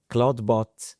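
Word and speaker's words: Clawdbot: How did we get I mean, can you explain to our audience Claude code, then Claude bot, then where we are today?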